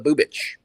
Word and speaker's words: Bubic: I'm not sure how how you actually Bubich Bubic. I only know this because I watch a ton of their games and the announcers have gotten me right on the uh pronunciation of the Bubich.